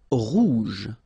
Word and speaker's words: rouge: Rouge. So same thing here, same form for the masculine and the feminine. Rouge. Remember, G-E, je. Rouge.